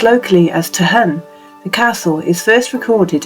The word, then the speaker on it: Tolquhon: it looks like a stunning place it does token Castle was a fashionable and Noble residents for more than 300 years it was a spacious and sophisticated Country House owned by William Forbes pronounced locally as tahun the castle is first recorded in a charter